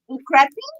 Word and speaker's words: crappie: Crappie? How am I pronouncing it right?